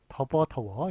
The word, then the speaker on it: 더워: 근데 더버라고 발음하는 데 있죠. 예, 거기에 경상도에서는 더버라고 발음합니다. 그래서 경상도에서는 비읍 불규칙이 없는 거죠.